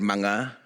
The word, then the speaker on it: mga: we just add um the word mang spelled MGA before the noun um if you have